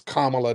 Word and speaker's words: Kamala: whenever people do that it's Kamala not Kam that's a Ki person so you're a big